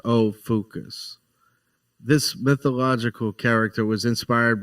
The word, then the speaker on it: Ophiuchus: In Greek, and is pronounced Ophiuchus.